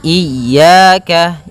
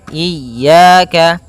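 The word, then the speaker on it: إياك: wa iyyaka nasta iyaka pada lafal ya ini hati-hati dalam pelafalannya ada dua kesalahan yang sering terjadi yang pertama yaitu dia memanjangkan Iya nah seperti itu harusnya dia ee ditekan dan dilembutkan iyaka iyaka nah kemudian jangan sampai dibaca panjang jangan iaka tidak ada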